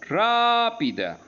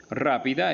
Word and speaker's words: rápida: tilde ágilmente igual rápidamente rápida rápida es esdrújula ya que tiene el acento en ra por eso se tilda agregó